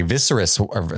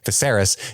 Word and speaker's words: Viserys: deeper into the party visceros sorry that's my old pronunciation when I was just reading viserys is watching and getting